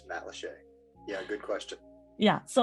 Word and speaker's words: Matt Lachey: to pronounce Matt Lachey it looks a lot like Matt laca or Matt lacha but it is Matt Lachey yeah good question yeah